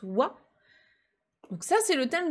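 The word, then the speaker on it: は: phrase ici c'est bien la particule de thème wow donc qui s'écrira mais qui se prononce wa donc ça c'est le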